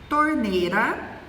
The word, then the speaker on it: torneira: Não damos ênfase à vogal I, à semivogal I. Então, às vezes pronunciamos baixa ao invés de baixa e torneira ao invés de torneira.